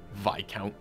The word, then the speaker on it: Viscount: I mean, it shouldn't be spelled like discount if it doesn't fucking rhyme with discount. Viscount.